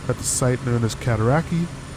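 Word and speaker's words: Cataraqui: the site known as kataraki uh or katarakway that's how it's best pronounced uh the outpost called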